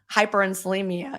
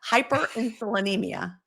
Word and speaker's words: hyperinsulinemia: That taught me how hyperinsulimia I can't I said it wrong. Hyperinsulinemia, there we go.